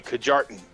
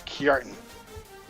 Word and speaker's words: Kjartan: with how it's spelled, you'd think that it'd be Kajartan, but it's Kjartan. That's how his name is pronounced.